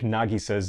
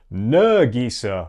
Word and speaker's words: Nagisa: Most of the characters are really well casted, but it has some minor issues in that it mispronounces some things like Nagisa's name. The dub calls her Nagisa, or her name is actually pronounced Nagisa.